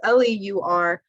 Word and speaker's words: leur: the way, but it's L-E-U-R, L-E-U-R, L-E-U-R-S, and it's pronounced leur all 3 times.